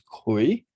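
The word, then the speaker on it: 癸: So this symbol itself is pronounced as Kui.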